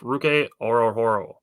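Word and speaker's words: Ruke Orhorhoro: I have Ruke Orohoro.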